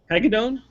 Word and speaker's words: Hagedorn: Hagedorn?